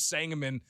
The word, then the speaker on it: Sangamon: And Dave texting right now talking about how to pronounce Sangamon We definitely have a unique way of pronouncing Sangamon County because it doesn't pronounce like it's spelled, right?